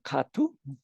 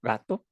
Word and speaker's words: katu: en la plaza del katu o gato para la pronunciación española que es donde actualmente